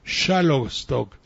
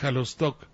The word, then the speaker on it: Xalostoc: de verde seo saldaña hay locutores que pronuncian xalostoc xalostoc en lugar de halo stock para green garse en